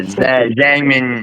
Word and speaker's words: Zhang: Zang. Zang. Okay. Here. Don't Don't look at how it's spelled.